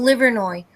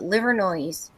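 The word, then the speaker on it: Livernois: People can't pronounce them. Like there's a street called Liveroi. L I V E R N O I S. And people from out of town call it Liveroise.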